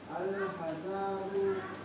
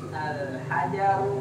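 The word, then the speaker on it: الحجر: Al-hazaru Pendek. Al-hazaru kabirun wa Al-hazaru kabirun wa waroku kabirun. Enggak ada yang ngikutin, berarti salah bacanya. Al-hazaru Janya pendek. Al-hazaru Pendek. Al-hajaru.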